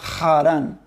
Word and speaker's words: Harán: idéntico en el español se cambia la h al principio por la jota pero es una jota cultural y entonces se pronuncia harán entonces el nombre de